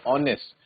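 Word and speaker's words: honest: और ऑनेस्ट pronounce करते हुए एच साइलेंट रहता है। हम बोलते हैं ऑनेस्ट।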